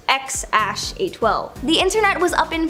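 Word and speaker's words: X Æ A-12: Okay, so we all know their first kid's name is X something, or apparently it's pronounced X-A12.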